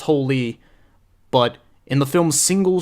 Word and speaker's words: Hole: Fassbender plays detective harry hole this is based off a Norwegian novel takes place in Norway so it's supposed to be pronounced holy but in the film